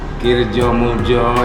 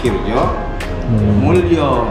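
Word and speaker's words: Kirdjomuljo: Ya, sama tadi disebut misalnya Kirjo Muljo, ya kan? Itu catatan. Seharusnya Kirjo Mulyo, ya kan? Ejaan lama gitu ya kan?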